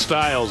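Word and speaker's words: Stylez: It's pronounced Styles, apparently. Styles. Don't let the spelling fool you.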